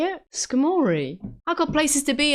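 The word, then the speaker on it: Skarmory: Oh no, it's Skamorei. Pronouncing Skamorei like Balamorei is insane. Wait, what do you mean? What do you mean? Is that how you say it? Skamori?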